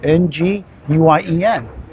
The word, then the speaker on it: Nguyen: John Wen. I used to work with somebody at Radio Shack with the last name Wen. So that's how I know how to pronounce it. Nguyen.